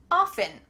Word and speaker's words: often: Often, often, both of these are correct and it's just a personal preference. For me, I think I often say often without the T sound.